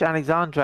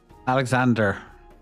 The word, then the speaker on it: Alexander: You've already you've already fished Alexandra out of the water like twice, so does that not count? Alexander, you said Alexandra.